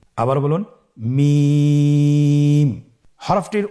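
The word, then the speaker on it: ميم: মিম হরফটি উচ্চারণের ক্ষেত্রে অবশ্যই বারিক হবে, পাতলা হবে এবং 3 আলিফ টেনে উচ্চারণ করতে হবে। আমার সাথে আরেকবার চেষ্টা করুন। মিম। আবার বলুন মিম।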